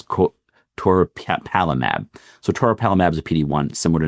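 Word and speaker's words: toripalimab: I always have trouble pronouncing this one. It's co to palamab. So toropalamab is a pd1 similar to nolimab or pilismab for example.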